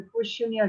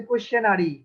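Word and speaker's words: questionnaire: তো প্রথমেই আমরা যেটা আমাদের সবাইকে জানতে হবে, কোয়েশ্চেনিয়ার কি। কোয়েশ্চেনিয়ার সম্বন্ধে আমাদের ইন ডিটেলস একটা আইডিয়া থাকতে হবে। আচ্ছা, প্রথমেই বলি যে এটার প্রোনাউন্সিয়েশনটা ঠিকভাবে করতে হবে। হ্যাঁ, অনেকে বলে যে কোয়েশ্চেনারি, নট কোয়েশ্চেনারি, কোয়েশ্চেনিয়ার। কোয়েশ্চেনিয়ার, হ্যাঁ, কোয়েশ্চেনিয়ার মোস্ট কমনলি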